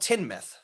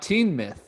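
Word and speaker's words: Teignmouth: And it's called Tinmouth. Not Teen Myth.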